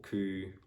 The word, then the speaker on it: coup: silent in receipt, so you don't have to pronounce it. And yeah, and also some other words like for example coup, or like cobbled.